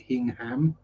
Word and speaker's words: Hingham: Yeah, so we visited, first of all, Hingham Church. If you're American, you would pronounce it Hingham.